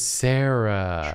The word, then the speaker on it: Cera: prison oh my god it is spelled sarah as in c-e-r-a like michael michael sarah that's where they got